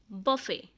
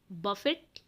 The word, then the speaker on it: buffet: So next है बफे। BUFFET, बफेट लिखा जाता है बट उसे आप टी साइलेंट है, बफे बोलेंगे।